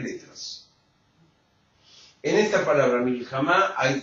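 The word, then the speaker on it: מלחמה: La palabra guerra en hebreo se dice milhamá. Ay. En hebreo, la palabra guerra se dice milhamá, que se escribe como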